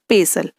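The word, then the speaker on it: pestle: Spelling में टी है लेकिन प्रोनाउंसिएशन विल बी पेसल।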